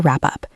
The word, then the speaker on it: wrap up: use the verb to wrap up. To wrap up. W-R-A-P. Up. The W is silent.